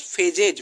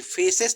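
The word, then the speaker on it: Phases: Humerus फेजेज, फेसेस नहीं है, फेजेज है।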